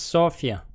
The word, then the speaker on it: Sofia: And Sofia is the capital. Well, Sofia. It's pronounced Sofia.